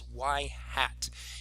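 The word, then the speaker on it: ŷ: We pronounce that as y hat.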